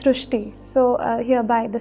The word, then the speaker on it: Shristi: So in Marathi, the word Ri is pronounced as Ru. So that is why the pronunciation goes Shristi.